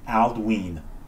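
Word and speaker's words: Aldwyn: Aldwin is pronounced Aldween because of the long vowel sound on the Y.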